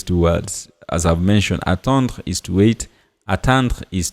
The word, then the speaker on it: atteindre: As I've mentioned, attendre is to wait, attendre is to attain. I don't know if you can hear clearly the difference in the pronunciation. Attendre and then atteindre. Attendre, atteindre. So, j'attends.